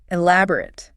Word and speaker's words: elaborate: The heavy stress is clearly on the second part. Exactly right. Elaborate.